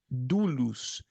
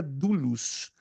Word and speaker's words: doulos: A palavra servo, como está nos originais em grego koiné, é a mesma para escravo, mesma. Doulos, D-O-U-L-O-S, pelo menos se translitera assim. Se escrevem com as letras gregas, mas se translitera, ou seja, se escreve nas nossas letras latinas com D-O-U-L-O-S, doulos.